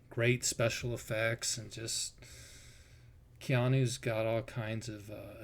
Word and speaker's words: Keanu: Keanu. Keanu.